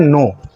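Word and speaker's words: know: और कब क्या होगा जैसे देखिए के एन ओडल सिंपल सा मैं एक वर्ड बता रहा हूं इसमें के साउंड के का जो साउंड है वो साइलेंट रहता है यह होता है नो अब यह क्यों होता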